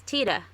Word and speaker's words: Tiede: His last name is Tiede. And I had Tiede, okay. It's Tiede.